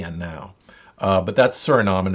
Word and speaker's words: Suriname: uh oh sorry i keep saying names that's surinam and it's a place in uh if we look on a map it's suriname is over here uh and this is oh